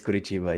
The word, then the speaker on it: Curitiba: From the sunny Curitiba, if I did pronounce that right. Exactly. It is pretty sunny actually, and it is Curitiba.